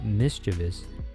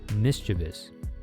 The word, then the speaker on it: mischievous: word which is mischievous I guess I can't blame people for adding the extra syllable and turning mischievous into mischievous maybe because it has devious Vibes which seem almost to define the word in any event the correct word is mischievous even though that somehow